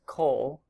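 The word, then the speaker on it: כֹּל: word all or every which is pronounced coal Coal and then comets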